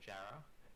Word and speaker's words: Jarrah: Jerer? Or It's weird for foreigners to say. So in Australia, people say Jarrah, Jarer?